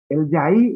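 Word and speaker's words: jai: a decir en guaraní, se escribe en guaraní actual con J-A-I, para lo que le gusta la Y, puede escribir con la Y, no hay problema. Yaí, así como suena A-I.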